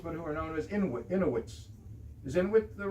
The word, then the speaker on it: Inuit: In Alaska, it would be people who used to be called Eskimos, but who are known as Inuits. Is Inuit the right pronunciation?